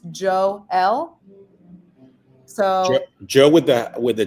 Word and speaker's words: Joel: In the MLB pronunciation guide that was sent to us earlier today, it says pronounced Joel.